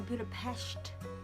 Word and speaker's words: Budapest: We are about to do a tour around Budapest, or Budapest, as they pronounce it.